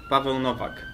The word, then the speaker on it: Paweł Nowak: Paweł Nowak.